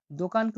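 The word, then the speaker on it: do'kon: দোকানকে উজবেকে বলা হয় দোকন মানে দোকান।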